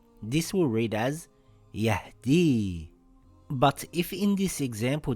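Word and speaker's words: يهدي: We have to look at the letter before it, if the letter before it has a kasra it will be pronounced as an ei sound like in the word weird. This will read as yahdii.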